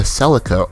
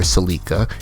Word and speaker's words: Celica: Alright, so this car right here is the Karen Calico GTF, which is based off of the Toyota Celica, or Celica, some people pronounce it differently.